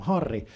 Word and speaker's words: Harri: difficult for Portuguese speakers because in Portuguese if a word starts with an H, you don't pronounce the H. If there's a double R in the middle of a word, it turns into this weird throat sound like My name sounds